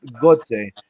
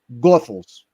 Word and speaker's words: Goethals: So, and just so you know, Nelson, it's not Gotze, it's Gothels. like the Goethals Bridge.